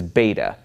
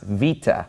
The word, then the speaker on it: Beta: Veta and of course if you're used to the Americanized pronunciation or the reconstructed pronunciation you you would know this as beta but it's actually pronounced vita and it makes a sound like a V and vita is basically